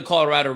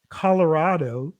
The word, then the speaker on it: Colorado: First of all, that's not Colorado. That's what I said. It's Colorado. Colorado. I did not say. I did not say Colorado. Colorado. I didn't say Colorado. Put the wrong emphasis on the wrong syllable.